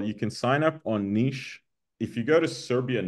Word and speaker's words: Niš: niche Nomad weekend so Niche is NI sh there's a Serbian letter called a sh which is like an sh you could say so nich is NI sh nich but uh sometimes we